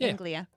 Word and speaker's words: Anglia: yeah yeah oh i was saying it right anglia it feels weird to do do you think